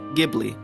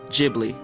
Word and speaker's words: Ghibli: caproni CA 309 Ghibli the original Italian word is actually pronounced with a hard G like Ghibli but because of a translation error the studio pronounces it with the soft G like Ghibli so they're both kind